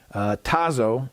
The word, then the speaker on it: Tazo: can buy at target tazo i think that's how you pronounce it t-a-z-o the tazo brand of